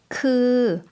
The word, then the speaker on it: คือ: คือ 좀 길게 발음해 주시면 되겠죠? 그라고 해주시면 되고요.